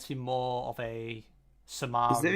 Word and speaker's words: Samar: I mean, Samar kind of almost rhymes with Chris Kamar, so to be fair.